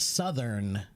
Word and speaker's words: Southern: all the time okay you've always had trouble pronouncing the word Southern sou s it's a voiced th sound sou okay I